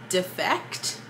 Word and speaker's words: Defekt: That's Defect, but it's spelled, I'll put it up so you can see it.